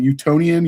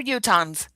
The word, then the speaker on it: Utahns: Is it Utah-nian? Utah-nian? How How's that go? We're Utahns.